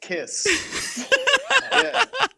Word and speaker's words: Kx5: gene simmons comes in k5 is pronounced kiss but seriously after we're